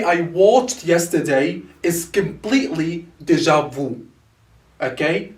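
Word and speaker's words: déjà vu: that is french inspired is this one here deja vu that's how we spell it if you want to spell it as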